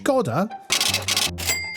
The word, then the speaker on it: Škoda: The Scoda Elrock, pronounced Skodda, named as such after a 2019 visit from a former wrestler to a famous Spanish landmark, Elro.